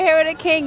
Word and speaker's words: Hero Da Kyng: literally in Times Squares with Video City with Hero the King, right? That's how you say it? Yep. Okay, we're here with Hero the King.